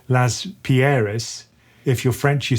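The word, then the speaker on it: Laspeyres: Well, actually, it depends on where you're from. I'm from England, so I say Las Perez. Las Perez. Okay, so if you're German, you say Las Pierres.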